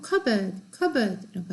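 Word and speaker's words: cupboard: 그 다음에 커버보드라고 안 하고 커버드라고 그러죠. 컵보드. 컵이랑 보드는 두 개 다 온전한 단어예요. 근데 컵보드라고 안 하고 covered라고 하죠. P가 그냥 사운드가 안 되고 그냥 B로 넘어가는 거예요.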